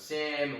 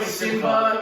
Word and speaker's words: Sim: I thought it was Sam, whatever it was. Is it Sam or Sim? Sim, S-I-M. S-I-M. Is that a nickname for Sim? You know, like Simba.